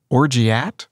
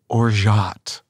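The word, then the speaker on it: orgeat: syrup it looks like you would say it orgy at the pronunciation that is correct is think of zsa gabor okay as you're saying this uh or jot oh okay i thought you meant you wanted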